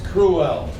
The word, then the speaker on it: cruel: clever what's that uh cruel cruel notice there's two sounds cruel uh next word botom